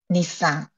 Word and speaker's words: Nissan: do you say Nissan no in Japanese the pronunciation would be Nisa okay so it kind of falls off like I'm putting an emphasis on the end of it like Nissan but you you it kind of falls off